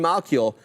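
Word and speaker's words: Malkiel: also how do you say this Burton Burton Mal malill thank you Burton malill um he posited that rwt was popularized by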